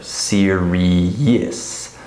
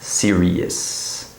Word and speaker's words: serious: And then also notice the extra vowel here, serious. And this one is series, right? So here, this one has one less syllable than this one, okay? So this is an example of sound distinction. You need to make sure that you hear the difference between those 2 words.